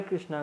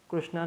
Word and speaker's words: कृष्ण: लोग हरे कृष्णा कहते हरे कृष्णा कहो कृष्णा नहीं कृष्ण कहो हां य एक बात याद आ गई जो मेरे गुरु जी ने भी बोली है मैं भी कह रहा हूं हम हरे कृष्णा उच्चारण करते हैं कृष्णा उच्चारण खास तौर पर जो विदेशी भक्त है जो विदेश में रहते हैं वो करते हैं आप नहीं कर करना चाहिए क्योंकि आप उनकी नकल कर रहे हो ऐसा कहकर हरे